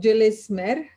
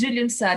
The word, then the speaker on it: Gülümser: Then we have, I think, Julis Mer. Hello to everyone. It's pronounced Gülümser. It's a Turkish name.